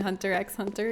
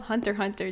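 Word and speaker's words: Hunter × Hunter: I blew my mind when I found out you're not supposed to pronounce the X and Hunter X Hunter. It's just called Hunter Hunter. Did you all know this? The anime. It's Hunter Hunter, not Hunter X Hunter.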